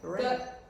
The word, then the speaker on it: rain: We have 2 vowels. The second vowel we do not pronounce it. How would you say it? Rain. Rain. So rain. Okay? Rain. Long. We don't pronounce the I. We just say rain.